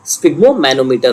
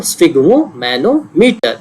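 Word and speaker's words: sphygmomanometer: Blood pressure को नापने का क्या तरीका है, स्फिग्मोमैनोमीटर होता है, एक इंस्ट्रूमेंट होता है, ये देखिए ये इंस्ट्रूमेंट है स्फिग्मोमैनोमीटर, स्पेलिंग देख लीजिए, SPHY, स्फिग्मो और मैनोमीटर।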